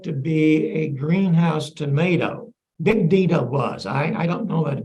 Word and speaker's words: Bigdina: The first one is actually pronounced Bigdina. It's a Dutch variety. We Americans have converted it to Big Dina. But if you buy the seed, it's going to be one word, Bigdina.